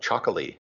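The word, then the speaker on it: Txakoli: wine a white wine called chocol spelled with an X and an O It's a Bosque thing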